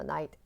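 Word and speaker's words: knight: 그래서 이게 night in shining armor at night 그래서 night 아시죠? 그 기사 예전에 가고 있던 그 기사가 바로 in night입니다. K는 묵음이고요.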